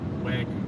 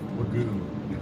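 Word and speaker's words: wagyu: wish jermany jery would learn how to pronounce wagu instead of wagoo I know how to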